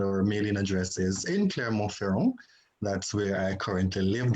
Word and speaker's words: Clermont-Ferrand: Clermont-Ferrand. Clermont-Ferrand. Thank you. For better English pronunciation.